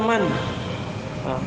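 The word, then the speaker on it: مَن: berapa yang ketiga adalah man di fathulmi man caranya di fathah mim cara bacanya bukan mim Tapi Man jelas ya contoh mad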